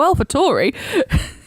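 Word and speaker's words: AlphaTauri: made a point of asking them how are we saying it and as soon as they said ah Alpha toy right so Alpha Tori yeah exactly yeah it's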